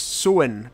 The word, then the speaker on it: Samhain: Samhna, pronounced Samhain, translating to summer's end, was a traditional pagan festival held in Scotland for thousands of years.